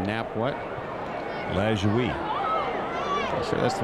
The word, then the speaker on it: Lajoie: Lajoie. I'm sure that's the right way to pronounce that one. Yeah, a lot of people say LaJoy.